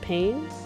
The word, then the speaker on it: Payne: for the prosecution uh Mr Payne is it pain is that how you pronounce it yes your honor as Mr